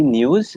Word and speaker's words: Nyuz: So my company News, it's spelled NYUZ.